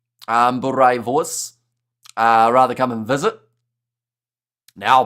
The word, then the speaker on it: boerewors: Roll the R. Boerewors. Boerewors. I think I'm getting closer, because what did I call it at the start?